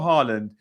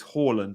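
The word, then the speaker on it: Haaland: salah so kane or harland is so difficult sorry it's horland i keep saying harland um i do so and i know it's hawlem because i listen to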